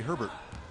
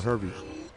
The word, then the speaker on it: Hurlburt: Now, I've been informed that while it's spelled Hurlburt, folks around here say Herbert. Or Herbie.